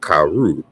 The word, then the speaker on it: caro: This is caro, caro, caro, and but in the Portuguese, we notice that it's pronounced caru, even though it's spelled with an O.